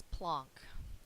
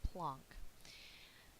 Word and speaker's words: Planck: do need another way of going enter max plunk and that is how you say his name plunk he is one of your father's of quantum